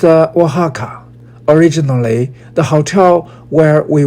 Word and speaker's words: Oaxaca: Oaxaca is pronounced Oaxaca.